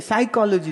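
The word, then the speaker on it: psychology: पी साइकोलॉजी, बोले पी नहीं, बोले पी साइलेंट है, साइकोलॉजी, तो फिर पी काहे लिखा है मरदूद?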